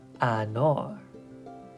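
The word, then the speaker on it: انار: So this one is anar, which means pomegranate.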